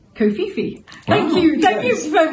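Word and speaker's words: kōwhaiwhai: has a marry kohi design as a background pronounced kofifi thank you thank you for the I nearly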